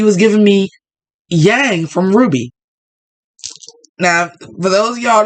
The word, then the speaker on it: RWBY: It was giving me OG Yang from Ruby. Look it up. Ruby is spelled RWBY.